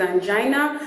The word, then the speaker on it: angina: Number one, a point of correction is that most of the time we tend to think that the word is angina, but the correct pronunciation actually is angina.